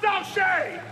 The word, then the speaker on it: Douche: It's pronounced Douche.